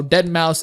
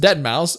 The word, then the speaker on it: Deadmau5: that it's just Fighters, like how Deadmau5 is pronounced Deadmau5 as opposed to Deadmau 5.